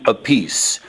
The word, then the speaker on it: Appice: Okay, so there's actually 3 different ways you guys pronounce it, right? Yeah, so what I've been doing is just saying, just call it Appice.